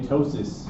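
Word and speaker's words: ptosis: Tossis spelled with a P. P O S I S.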